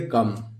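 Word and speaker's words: come: इसको कैसे पढ़ेंगे दोस्तों? क और एम, कम। इसमें आप देखिए ओ का प्रोनाउंस नहीं होगा और ये दो साइलेंट है, सीधे हम पढ़ेंगे कम।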